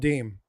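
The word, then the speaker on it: disme: it's actually pronounced called so they just dropped the S it's actually called deem de that's how you say it's not dis me it's deem um and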